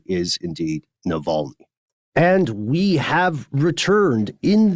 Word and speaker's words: Navalny: So just know that we're aware of it, and the correct pronunciation is indeed Navalny.